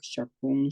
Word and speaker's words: chaque: La pronunciación de Shak, Shakun, Shakhan, Okun, Okan, etcétera.